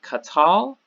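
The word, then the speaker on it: קָטַל: does share that so here we have qatal the accent is on the last I do this little caret kind of thing sideways care to show you that accent is on the last syllable in the second example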